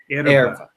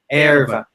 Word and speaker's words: erva: You can lean on the R. Erva. Erva. No. Not er. Air. Oh. Erva. Erva. Yeah, that's the way I say it. Yeah. People in Rio Grande do Sul will say erva, just the way you say. Erva. Oh, like the Spanish. The Spanish R, exactly.